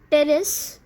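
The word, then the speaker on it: Pteris: Okay, now examples are ferns like nephrolepis, Marsilea, terrace, here P is silent, okay, then adiantum, equisetum, seliganella, lycopodium, etc.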